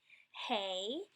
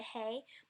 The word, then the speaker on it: Hey: Hey is pronounced like the H in help, transliterated with an H.